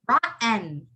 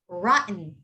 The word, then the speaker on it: rotten: the same thing rotten you don't pronounce the t you would go rotten you so replace a ttem with just like an n sound rotten rotten and the next